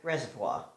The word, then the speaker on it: reservoir: bad pronunciation for reservoir how do you said reservoir reservoir that's french reservoir so remove the pressure